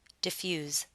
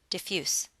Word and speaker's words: diffuse: with a z sound diffuse however if you're using this word as an adjective you need to pronounce it with an S sound diffuse as a verb diffuse